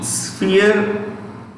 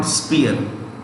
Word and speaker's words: sphere: influence the word spear the p is pronounced with an f so it's sphere how do you say it sphere not spear sphere sphere of influence